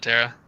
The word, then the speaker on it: Terra: you're a Son of Terra. There's no other units, no other companies. No, it's pronounced Terra. I keep saying Tara, but that's wrong.